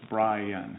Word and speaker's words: Bryan: But my mother would pronounce my name. It would be 2 syllables, Bryan. Bryan. But then I came. Like Emily. But I came to Texas, and I realized that they corrected me that my name only has 1 syllable.